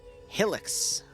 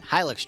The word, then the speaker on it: Hilux: don't change yep uh one disc static one helix truck and a uh i said it wrong again hilux truck and one bmp one uh according to